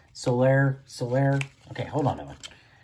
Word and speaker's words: Soler: Soler.